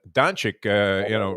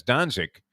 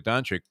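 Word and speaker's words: Dončić: 4 calls of the race, and then remember Doncic, ran, and he was pronouncing that as Danzig, the city where my mother was born, having no idea that, of course, it was Luka Doncic who the horse was named after.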